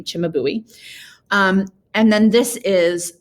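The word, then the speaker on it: Cimabue: baby jesus done by an artist called chimabui yes that is really how you say his name chimabui um and then this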